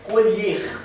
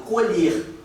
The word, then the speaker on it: colher: Colher com ó, com e fechado. Colher. Vou colher a minha safra de arroz. É um verbo colher com e aberto. Tá vendo? Se escreve igualzinho. São homógrafas, mas são heterófonas.